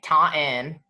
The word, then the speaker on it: Taunton: I grew up in Taunton, Massachusetts. Spell that. Taunton. The T is silent, evidently. The second, Taunton.